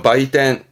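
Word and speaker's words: 売店: 매자 발음 바예요. 바이텐.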